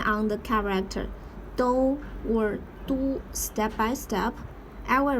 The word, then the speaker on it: 都: Do or do according to different context. As do, it means or, both. Du, capital city. Or Chinese surname.